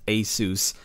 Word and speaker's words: ASUS: $200 board from Asus, yes, I know it's pronounced Asus, isn't really any different from a $700 board from MSI, save for a few minor differences.